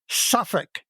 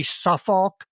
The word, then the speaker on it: Suffolk: And he wrote to inform me that the correct pronunciation is suffic.